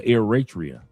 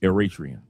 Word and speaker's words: Eritrea: He said he's pronounced or Eratria. Thank you very much. Eratrian.